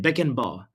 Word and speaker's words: Beckenbauer: Beckenbauer. I think that's how you pronounce his last I name.